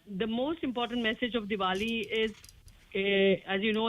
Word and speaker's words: Diwali: Diwali, if I'm pronouncing that correctly.